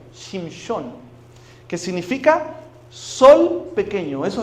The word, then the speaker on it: Shimshon: ¿Sabe cómo se dice Samsón en hebreo? Shimshon, que significa sol pequeño.